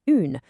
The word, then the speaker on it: une: We are no longer using un, the word for a has magically gained an e on the end, becoming une, with a really distinct u sound.